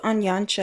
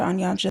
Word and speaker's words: Onyancha: Philip Onyancha, and that is how Google said the name is pronounced.